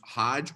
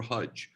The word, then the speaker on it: Hajj: PM the zakat and this is pronounced Hajj or hjj I've heard people say hjj as well shahada is the you